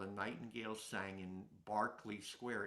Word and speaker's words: Berkeley: sang in Barkley Square it's spelled Berkeley like Berkeley the university in California but on the recordings they say Barkley so maybe in British you're supposed to say that particular place as Barkley Square um some of the